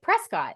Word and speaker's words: Prescott: And then you guys also saying Prescott correctly. Thank you for doing that. Because everybody. Because it's spelled like Prescott.